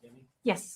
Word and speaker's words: Deming: Deming, is pronounced Deming?